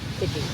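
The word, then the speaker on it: Coogee: Um what how do we pronounce it? Coogi or Kooi? Coogi. Kuji. I got some boat wrong. I've been saying Koogi the whole time.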